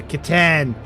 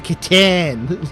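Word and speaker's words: C'tan: So, the Satan or katan. Yeah, kitan. You have to call it the kiten.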